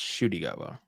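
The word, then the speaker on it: Ncuti Gatwa: spelled Nakuti Gatwa, but it's pronounced Shuti Gatwa.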